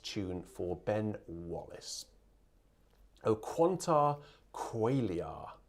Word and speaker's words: O quanta qualia: tune for ben wallace o quanta qualia qualia because in latin you pronounce all of those syllables so it's been harassed